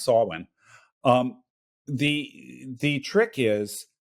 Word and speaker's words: Samhain: Solon it's it looks like it should be pronounced Samhain but it's actually pronounced Solon um the the trick is that within the